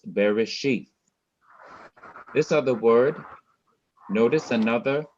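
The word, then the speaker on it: בראשית: bearish sheet very sheath i'm not rushing i i'm now coming to the last syllable very sheath i've rushed through the first two syllables these are two and this is the third syllable sheath very sheath wherever i see an accent i must slow down and i must emphasize that syllable so this is bereshith this other word notice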